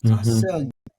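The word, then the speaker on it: ἀσέλγεια: You put the stress on that next to last syllable.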